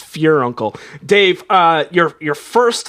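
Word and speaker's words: furuncle: week is your uncle no no it is f-u-r-u-n-c-l-e uncle that's not pure uncle that's fine it's pronoun it is i checked it's pronounced fear uncle i thought it was pert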